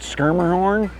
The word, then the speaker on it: Schermerhorn: as in you know Hoyt shermerhorn Detroit skirmerhorn that's pronunciation Schermerhorn that that subway stop